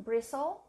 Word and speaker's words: bristle: to spell this one bristle there are silent letters here three so one there is one silent letter to bristle add something